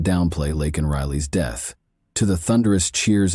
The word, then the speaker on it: Laken Riley: but did not downplay Laken Riley's death. To the thunderous cheers of his supporters, Biden mispronounced the victim's name during the speech, saying instead Lincoln Riley.